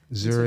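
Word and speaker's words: Zürich: Zurich. In Switzerland too. Did I say it right? Zurich, yeah, that's where I was born.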